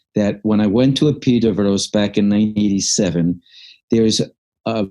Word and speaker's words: Epidaurus: And we won't talk about all of them, but in particular, I went to Epidaurus. It's spelled up Epidaurus. It's pronounced Epidavros, which was the main Asklepian healing sanctuary of ancient times.